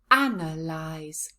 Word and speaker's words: analyse: sounds together analyze analyze where is the stress in this word analyze yes it's right at the beginning now let's have a